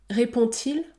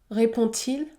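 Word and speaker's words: répond-il: qui suit par exemple répond-t-il répond-t-il le D se prononce t répond-t-il ou encore mange-t-elle mange-t-elle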